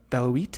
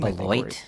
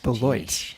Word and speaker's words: Beloit: suburbs, Wrigleyville to River North, Champaign to South Beloit. I just butchered that name. Beloit. Beloit.